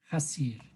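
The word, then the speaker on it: חזיר: El cerdo se escribe con una letra Het, Zain, Yud, Resh y se pronuncia Hasir.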